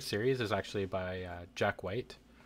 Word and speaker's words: Whyte: My favorite series is actually by Jack White. White as is spelled Whyte.